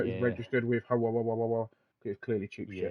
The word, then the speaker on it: Huawei: And Huawei is how they pronounce it, Lawrence. It's Huawei.